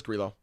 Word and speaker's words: Grillo: Let's figure it out once and for all right now on the pod. Grillo. Interesting. Yeah, so it is Grillo.